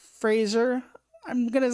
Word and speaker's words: Fraser: And like Brendan Fraser's mummy is not Fraser. I'm going to say his last name wrong a lot. It's Fraser, not Fraser.